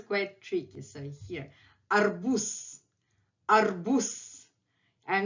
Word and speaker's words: арбуз: So here, arbuz, arbuz.